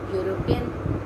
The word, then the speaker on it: European: So, children, European will be pronounced as European. We never say European. We never say European. We say European. Y-O-U is the pronunciation.